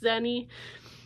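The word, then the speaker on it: Xeni: one I read was sheny zeni however we're pronouncing it my brain automatically wants to pronounce it the Chinese way with an X but I think it's zeni but this is one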